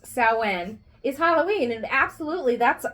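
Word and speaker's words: Samhain: I mean sin it's spelled Sam ha it's pronounced saen is Halloween and absolutely that's that's the witches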